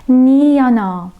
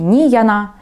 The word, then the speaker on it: nii ja naa: Nii ja naa. Nii ja naa. И опять же удваиваем, да. Не nii ja naa, а протяжно, да, произносим.